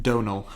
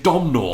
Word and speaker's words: Domhnall: Donal. I've been calling him Domhnall. It is spelt Domhnall, but it's Donal.